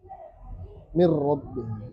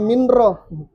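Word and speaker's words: min rabbihim: Mir rabbihim. Jangan minro. Karena minro dengar keluar minro. Mirro.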